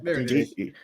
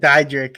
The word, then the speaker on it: Dietrich: Dietrich. I said Didrich.